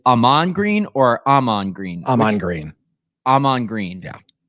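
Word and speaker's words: Ahman Green: green or Aman green Aman green Aman green yeah so the emphasis is on the first half of his name correct unless I've been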